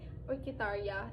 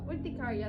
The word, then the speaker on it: urticaria: Way back 2023 na-diagnose siya na may orchitaria. Ewan ko kung tama yung pronunciation ko. So tamaan niyo na lang ako. Mommy, simula noon, na-diagnose siya nung 2023 na meron nga siyang ah urticaria.